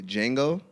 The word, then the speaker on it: Django: me is gonna be Django and the reason why the reason why I have jingle because D is silent alright so cuz